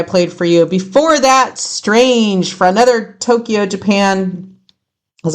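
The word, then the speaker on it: Straenge: This is a death death rash metal band and they're called Strange and it's spelled S T R A E N G E.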